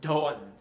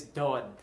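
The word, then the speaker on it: domhain: irish speaker but i believe that when you have an age in the middle of a word it cancels out the consonant before it um so it's spelled d-o-m-h-a-i-n but i believe the correct pronunciation in irish at least is dawn or something like that so i'll go with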